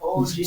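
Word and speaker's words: 오징어: It's called ojinga. Speaking Ojinga. That's how you pronounce it.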